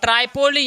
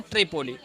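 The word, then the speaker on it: Tripoli: तो याद रखिएगा लीबिया की राजधानी जो है ट्राइपोली या क्या बोलेंगे, ट्रिपोली। ठीक है, ट्राइपोली या ट्रिपोली, स्पेलिंग हिंदी और इंग्लिश में थोड़ा अंतर है।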